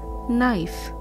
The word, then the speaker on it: knife: wrist similarly wrinkle this one has a silent k so the word is knife similarly no the word